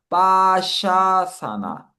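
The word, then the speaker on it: पाशासन: 얘가 빠하고 여기 샤가 나오는데 길게 샤를 길게 해 주는 거네요. 그래서 빠샤사나 빠샤사나 빠샤가 올가미줄이어서 올가미 자세라고 하는 것 같고요.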